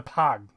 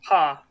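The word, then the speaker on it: Pagh: The Pog, or however it's pronounced. Yeah, paw.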